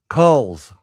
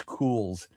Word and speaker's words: Culz: But let's get our guest on because I've I used to pronounce it Kohl's C u LZ, but it is Cools and we're welcoming Cool's Paranormal to the show.